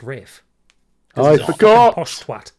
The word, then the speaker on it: Ralph: It's spelt Ralph here. I wasn't thinking, all right? Respect it. But the thing is, no, it's always spelt Ralph. It's pronounced Rafe.